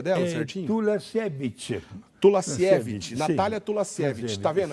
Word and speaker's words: Tulasiewicz: Como é que é o sobrenome pronuncia dela, certinho? Tulasiewicz.